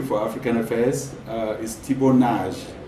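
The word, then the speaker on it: Nagy: is Thibault Nage, not Nagi. Okay. I've heard a lot of Cameroonian journalists call Nagi. He's Thibault Nage. Thibault Nage. Thibault Nage. His parents, he's of Hungarian descent, and it's pronounced as in Hungary, Nage.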